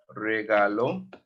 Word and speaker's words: regaló: También mi padrino me regaló, accent on the O.